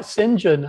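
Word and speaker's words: St John: would be soon anyway well it's names like sinjin and and chumley and you know after my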